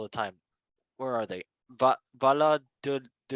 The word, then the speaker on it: Valladolid: Getafe and Valladolid 2-3 for Valladolid.